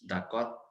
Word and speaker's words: d'accord: तो next is d'accord, d'accord, d'accord. We don't have to pronounce D. It's d'accord.